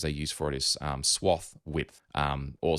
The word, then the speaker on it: swathe: use for it is swath width or some people pronounce it swathe but like lathe that's ultimately one of